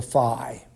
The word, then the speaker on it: phi: Now, the unit for electric flux is called the phi. And I think it might be helpful to remember, in order to pronounce this correctly, is that flux begins with the letter F, and phi, in terms